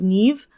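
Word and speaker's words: Niamh: king whose name is Neve. Um, I say Neem a lot because again it gets anglicized and mispronounced and that's what I was raised with.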